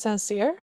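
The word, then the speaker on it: St. Cyr: I think that's pronounced sincere, like sincere, but with a but said weird.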